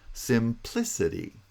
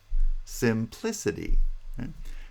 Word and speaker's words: simplicity: on the first syllable primary stress is on the second syllable not the third the second syllable simplicity simplicity the pitch is pronounced